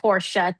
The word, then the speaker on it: Porsche: to get the Porsche, which we learned is pronounced Porsche, 2 syllables. I've always called it Porsche.